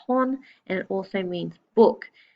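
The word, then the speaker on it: 本: on so for example this symbol here is pronounced horn and it also means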